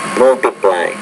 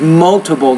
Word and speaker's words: multiple: Multiply. Robert. Example. The first word is multiple, not multiply. Multiple.